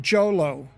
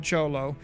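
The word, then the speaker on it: Jho Low: Jolo. If you talk to these same club guys and not say Cholo Fit, this is different. Who was Jolo, not J-Lo. Jolo.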